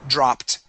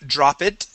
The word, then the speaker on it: dropped: time dropped dropped okay notice in each one of these I'm not saying drop it or lured or kill it exactly the only time when we pronounce the E is with words that end with a t like spot okay or with a d like fade okay so for example this